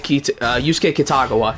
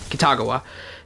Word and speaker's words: Kitagawa: Like, for example, in Persona, there's, like, Yusuke Kitagawa, and he hates that I pronounce it as Kitagawa. And he says it should be pronounced Kitagawa.